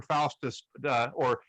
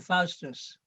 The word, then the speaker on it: Faustus: name dr f-a-u-t-u-s okay i would say dr faustus yes but it's you know i'm from scotland you don't count we have strange pronunciations you know no no no no no that well i think that's how we would pronounce it but um our our